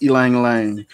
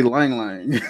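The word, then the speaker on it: ylang-ylang: She said Naps is pronounced Elang Lang, but I always just say Lang Lang because it just seems so much easier to say.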